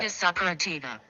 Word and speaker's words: hidradenitis suppurativa: Hidradenitis suppurativa. Did you hear it? Hold on. Hidradenitis suppurativa. Hydrodenitis suppurativa. Hidradenitis suppurativa.